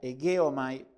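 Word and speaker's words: ἡγέομαι: Después tenemos un verbo que es egeomai, así se pronuncia, egeomai. No se pronuncia con G, sino como si tuviera una U.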